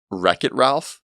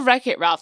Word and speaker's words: Wreck-It Ralph: going on with them there's wet Ralph that is awful I can't see is awful yeah you're try not to judge it's just like come on yeah a w a Wreck-It Ralph also drives me insane wreck Ralph I want to play a wet Ralph it's like what are you doing or a your welcome